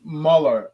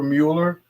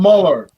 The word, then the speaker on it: Mueller: I had a friend, her last name was Muller, and it's spelled, of course, Mueller, but if you called her Mueller, she would slap you in the face. I'm not Mueller, I'm Muller.